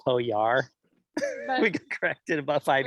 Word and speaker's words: Pojar: um we call it poge even though apparently it's actually pronounced poe yar we got corrected about